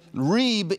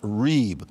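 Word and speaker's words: rîb: for you a little bit because it's it's Reeb is the word for covenant lawsuit it's a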